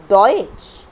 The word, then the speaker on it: Deutsch: الاس تي ها لما بيجوا مع بعض في اي كلمه بيتنطقوا شين. اكتب فوقيها كده حرف الشين. دويتش.